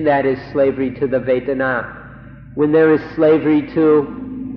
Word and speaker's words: vedanā: So we'd like to request, we implore you, in fact, to remember this word vedanā, vedanā, or in Thai, vedanā. It's spelled in Roman letters V-E-D-A-N-A, vedanā or vedanā.